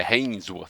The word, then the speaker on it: Hainsworth: A menina Isis Hemsworth, não é Hemsworth, ela não é parente do Thor. É Hainsworth, se escreve diferente. O som é parecido, mas a escrita é diferente.